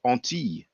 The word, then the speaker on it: Antilles: Actually, in French, we call it Antilles. When you have the double L, it's pronounced like a Y.